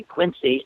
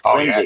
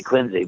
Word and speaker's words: Quincy: one I always get them how do you pronounce q i NC y if they say Quincy no you're not it's quiny exactly it's definitely Quincy because that's the way John quiny aners pronounced